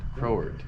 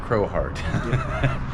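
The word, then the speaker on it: Crowheart: no it's Crow heart crowart crowart crohort it's not Crow heart it's crowart I guess you can pronounce it both ways Pro yeah heart is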